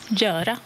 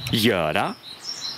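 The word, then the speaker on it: göra: Ou alors Yara. Yara.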